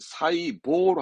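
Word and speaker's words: 細胞: 근데 새는 사이로 가고 포는 호로 가야 맞지만 보통 발음할 땐 사이보로 합니다. 사이보. 사이보로 대화할 땐 쓰여집니다. 보통. 사이보. 심지어 뉴스 앵커들도 뭐 사이보, 사이보 하니까 시험 때도 사이보로 챙겨두셔야 됩니다.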